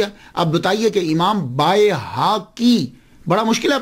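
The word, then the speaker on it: بیہقی: Pronunciation پہ بھی غور دیجئے گا، امام بیکی بیکی بیکی، ہم اکثر لوگ بیکی بولتے ہیں، لیکن میں ان کو غلط نہیں کہتا. کیوں؟ ہمارے معاشرے میں یہی ہے. اب بتائیے کہ امام بائے حاکی بڑا مشکل ہے پرونانس کرنا، تو معاشرے نے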